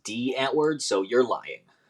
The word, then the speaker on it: Die Antwoord: concert it was a die Antwoord the South African hip-hop duo I believe it's pronounced D at word so you're lying